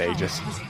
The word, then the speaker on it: Aegis: them into Visage and we Americanized it sounds like ages right it's meant to be Aegis we pronounce it Aegis make things easier for